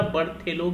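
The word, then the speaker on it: Berthelot: बर्थेलो के द्वारा। T silent होता है यहां पर।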